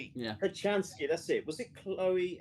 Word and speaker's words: Kochanski: Kochanski, that's it.